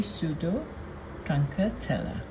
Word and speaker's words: Pseudotruncatella: This Lithops is a bit difficult to pronounce. It's actually Pseudotruncatella.